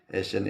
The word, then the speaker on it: Eysenck: Jadi kalau kita kaitkan dengan teori Eysenck, bacanya kami Eysenck ini, bahwa di situ ada tipe kepribadian stable, unstable, atau extrovert, introvert.